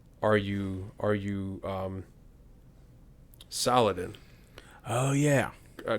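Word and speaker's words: Salah ad-Din: you are you um saladin oh yeah uh correct me from wrong i think in the middle east they they pronounce it uh salahaddin okay right i might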